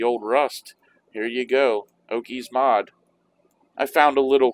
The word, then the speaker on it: Okis: saying it right but it's spelled ok i s i'm guessing it's okies okies mod it's essentially